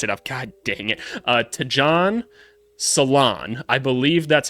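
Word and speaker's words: Tidjane Salaün: Tidjane Salaun. I already messed it up. God dang it. Tidjane Salaun. I believe that's how you're supposed to say it. They told me it's like nail salon, and they said his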